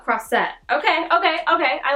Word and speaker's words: Croisette: unhelpful cross that oh so it's like croissant but cross set okay okay okay I